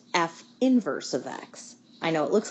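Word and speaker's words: f⁻¹(x): notation we use for the inverse function it's pronounced F inverse of X I know it looks like it says F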